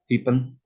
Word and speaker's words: Hyphen: Terima kasih sudah bekerjasama dengan komunitas Hyphen, bacanya Hyphen, untuk bedah buku sore ini.